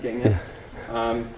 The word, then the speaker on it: Gangnam: Gangnam, that's how you pronounce it in America, Gangnam.